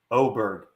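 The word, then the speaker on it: Åberg: How do I pronounce Lud? Ludvik's last name. Oberg. Oberg.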